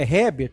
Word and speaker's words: Herbert: O Herbert, que é Herbert, na verdade, né, provavelmente, desde o início, os pais colocaram o H para ser utilizado com o som de R.